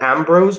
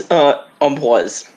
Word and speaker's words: Ambroise: I pronounce that Ambrose, but I know that's wrong. It's Ambroise. I know, it's French, so.